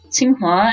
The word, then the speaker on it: Tsinghua: One of the best universities in Beijing, Tsinghua, actually, it's QINGHUA in pinyin, but they do spell it as TSING, just which is how you pronounce it phonetically, more or less, in English.